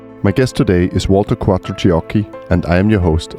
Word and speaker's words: Quattrociocchi: And I think I got it right by saying Quattrociocchi, right? Yeah, it's perfect. Thank you so much. It's misspelled every time I took abroad. It's always a mess. Quattrociocchi, Quattrociocchi. Quattrociocchi is the right pronunciation.